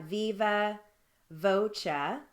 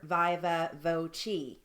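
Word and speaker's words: viva voce: one is spelled or it's actually pronounced three different ways so we've got viva voca it's also pronounced as viva voca or viva voci so there's three different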